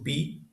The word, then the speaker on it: pi: Depois nós temos o pi, que equivalente ao nosso p.